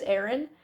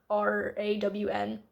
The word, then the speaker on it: Arawn: I think his name is Aaron. It's Arawn.